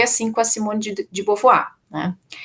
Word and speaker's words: Beauvoir: Beauvoir, não é Beauvoir, se escreve Beauvoir, né, gente, mas se diz Beauvoir, tá?